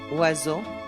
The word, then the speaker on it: oiseau: OI is pronounced like wa, in water, oiseau.